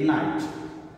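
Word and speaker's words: knight: Here students, here the word K is silent. Okay? You will read it night.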